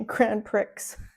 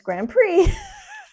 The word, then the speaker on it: Grand Prix: So Prix is spelled P-R-I-X. He'd say Grand Prix. We'd be like, no, it's Grand Prix.